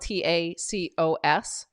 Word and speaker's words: tacos: So a singular taco is spelled Tacos, and a plural is Tacos in French. So they're both pronounced, however, taco, because obviously you don't pronounce the S at the end of a word.